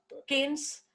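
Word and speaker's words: Cairns: we go to the canes where r is silent in that word and it's far up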